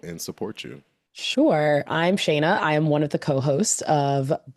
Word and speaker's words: Shana: I'm excited to finally have on the show Shayna. I pronounced your first name right. You did. Okay, Shayna and You got it.